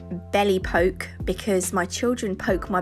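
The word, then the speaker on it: Belle Époque: and then this one it's pronounced Belle Epoque but I like to say belly poke because my children poke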